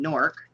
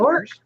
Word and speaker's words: Newark: There's 2 syllables there, though, right? Sure. I'm only hearing 1 syllable coming from you.